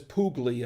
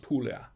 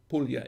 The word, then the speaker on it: Puglia: italy and uh puglia it looks like it says poogly uh but it's it's pronounced puglia puglia in italy and uh